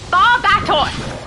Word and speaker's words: Barbatos: Barbatos. Okay, it makes sense because he's a bat. That's just how it is. Barbitos?